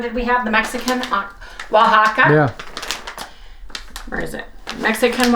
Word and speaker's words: Oaxaca: it alone and it's spelled o-a-x-a-c-a pronounced Oaxaca as all of you